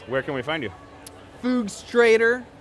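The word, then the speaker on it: Fugstrator: a t o r so it's like fugs my you know FS that's my half of my last name and straighter okay illustrator it's not that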